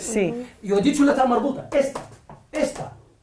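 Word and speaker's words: تاء مربوطة: Yo he dicho la ta marbuta. Esta. La ta marbuta tiene dos formas de pronunciación. Nosotros decimos que se pronuncia como ha, como H, como la ha, ¿de acuerdo?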